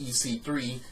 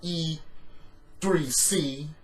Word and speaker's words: EC3: And Dean Ambrose has a match against EC3, not E3C. EC3 has been in wrestling for a while. Ethan Carter III. He's been at, of course, TNA. He was in NXT. So now you're mispronouncing EC3 with E3C.